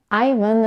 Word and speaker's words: Ivan: as Ian or Ian Ivan is a two syllable name and Americans pronounce it with a stress on the first syllable which is the dong